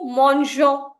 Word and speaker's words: mangeons: go g e r verbs have a soft g sound and to protect that sound in the nu form we add an extra e between g and o nu mangeons nu nageons nu voyageons